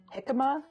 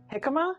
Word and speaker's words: jicama: So if you have mango in your salsa or jicama, how do you pronounce it? Jicama?